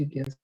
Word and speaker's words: Jigyasu: It's Jigyasu, but in English it's written this way. Okay, but Yeah. it will be pronounced Jigyasu.